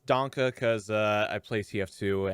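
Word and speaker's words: Danke: making your case uh donkey now where were we i think it's a short e like danka donkey no danka oh danka danka now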